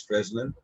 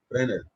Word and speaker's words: Fresnel: Don't pronounce it as Fresnel. S is silent here. Fresnel.